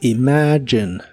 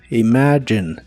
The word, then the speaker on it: imagine: de inglés es Imagine la G de esta palabra se pronuncia como y J es el sonido que usamos en palabras como George Así que esta pronunciación es Imagine Imagine en el presente la